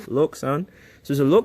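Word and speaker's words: LokSound: The decoder that comes inside of this is a lock sound, not lock. I know everyone thinks it's lock. LK. Okay. It's a German company, so they pronounce things funny over there. It's lo. Okay. Got to And you got to pronounce it right, too, cuz it sounds really cool when you say it instead of lock like anybody can say lock. Okay. It's lo sound.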